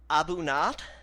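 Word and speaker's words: A'bunadh: it's called the and I'm probably going to botch this pronunciation it's called the abat I think uh that's that's spell a apostrophe b u n a DH um they brew it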